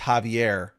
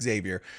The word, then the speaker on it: Xavier: Oh, he put in brackets. It's pronounced Javier. Now I know. Homie, Javier. Yours starts with an X. I always say that's Xavier.